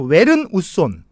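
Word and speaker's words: Jørn Utzon: 이게 이렇게 알파벳 보면 북구 쪽에 알파벳 오에다가 사성간 발음이 있죠. 왜 오자에다가 사성간 발음이 있는데 그거를 이제 으 발음인데 저도 잘 못합니다. 외도 아니고 뭐 요도 아니고 으인데 맞아, 그냥 외로 여기는 그냥 많이 우리나라식으로 웨른이라고 합시다. 그 요른은 아닌 것 같고 제가 아는 상식으로 웨른 우손 그쵸 웨른 우손이라는 사람인데 이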